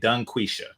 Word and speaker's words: DungQuesha: Dunquisha. Uh, make sure you pronounce the G when you say her name.